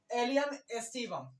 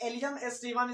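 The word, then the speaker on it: Allium sativum: इसके साथ हम आपको पता है कि राइट प्रोनाउंसिएशन भी लिख चुके हैं। तो क्या है? एलियम एस्टिवम। क्या है? एलियम एस्टिवम।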